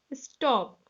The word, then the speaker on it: stalk: Walk, talk, buck, sidewalk, stalk, moonwalk, cock. Look children here, A-L-K. L is there, but L is silent.